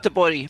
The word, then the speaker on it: Göteborg: up, is and I how was it's totally pronounced. Yeah, unprepared. Göteborg.